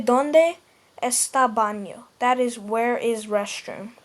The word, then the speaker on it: baño: Most American people would just say bano because, well, that is technically how you pronounce it in America. But in Spanish-speaking countries, you would say ¿Dónde está el baño? It's baño, not o.